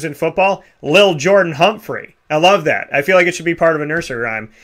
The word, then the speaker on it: Lil: And then Lil Jordan Humphrey. I don't know. Something about what is... Be careful. You got to pronounce that right. It's not little. It's Lil. Lil Jordan Humphrey.